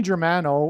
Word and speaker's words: Germano: Okay, let's, Tony Germano rhymes with Tony Soprano, who is symbolic of the Antichrist, the leader of the mafia in that show, The Sopranos.